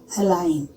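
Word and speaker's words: align: जब वो एन के पहले आता है तब जी साइलेंट हो जाता है। जैसे अलाइन, डिजाइन, साइन, इन सब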